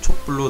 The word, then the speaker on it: 촛불: 초와 불이 합쳐져 발음이 촛불로 날 경우 사이시옷을 추가해 촛불로 적어줍니다.